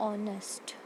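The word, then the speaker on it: honest: अब देखते हैं ऑनेस्ट, अगर ऑनेस्ट देखें तो उसमें एच तो आ ही नहीं रहा, ओ और फिर नेस्ट आ रहा है, तो जो यहाँ पे हमारा ओ है वो वॉवल है, तो इसलिए हम क्या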